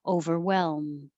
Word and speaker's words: overwhelmed: So remember to hold the L, hold your tongue in the L position for a little longer so that you can still make noise and hear the L as you're closing your lips for the M.